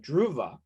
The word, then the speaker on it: Druva: heard of I hope I'm saying it right druva you got it right awesome what what's you